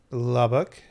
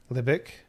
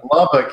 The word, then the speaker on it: Lubbock: Of Lubbock, Libic. It's hard to say. Hard to see. Lubbock, you said it right the first time.